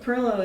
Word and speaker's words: pilau: still like we spell PLO here p i l a u it's the invisible R you know and it didn't it